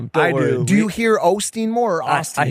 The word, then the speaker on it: Osteen: It is Austin, right? It's Ostein. Mike, you son, bro, are you kidding me, dog? We had a whole I've never heard it pronounced with the O. I've never heard it pronounced that. Everyone's always said Austin.